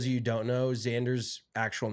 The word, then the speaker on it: Xander: an English Professor but how is an X pronounced as a z or is his name Xander well Al Alexander Alexander Xander it is you got it's not just Xander because then that's z n d r right you know